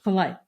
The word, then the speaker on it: Polite: co-authored with Dr Craig do you say polite is that how we say his name yes yes polite polite uh her latest work